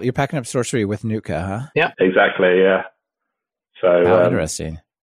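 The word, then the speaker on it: Nuitka: Amazing one that we've used is this package called Nutka, which is spelled N-U-I-T-K-A.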